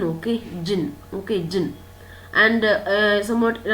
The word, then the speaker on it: Djinn: So D is silent, jinn, okay?